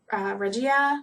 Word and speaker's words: Regia: I think it's regia I feel like everyone pronounces it regia but I think it's actually regia I mean because it's German anyway I'm not sure